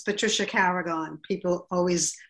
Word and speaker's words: Carragon: It's Patricia Carragon. People always mispronounce my name.